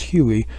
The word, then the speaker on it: Huey: Well, when you put HU-1, it becomes HUI, and people start pronouncing it as Huey, just as people started